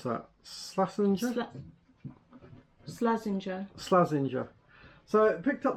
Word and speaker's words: Slazenger: How do you pronounce that? Slazenger? Slazenger.